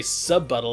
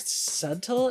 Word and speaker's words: subtle: Not very sub-buttle of you. Hey, you brought it. Wait, what? What did you just say? Sub-buttle. Did you think the word subtle is pronounced sub-buttle?